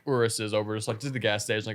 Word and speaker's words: Urus: Yeah, we rented Urus or Urus? It's pronounced Urus.